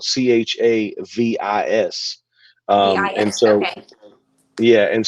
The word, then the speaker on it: Chavis: And it's pronounced Chavis. That's how it's pronounced.